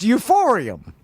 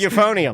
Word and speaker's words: euphonium: That's how it's pronounced. Euphorium. Yes. They Okay, everybody's telling me it's pronounced euphonium. Euphonium. Oh, well maybe properly it might be.